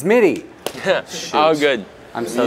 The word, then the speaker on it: Mitte: the film RJ Mike no one ever says his name right did I say it wrong it's midi yeah oh good I'm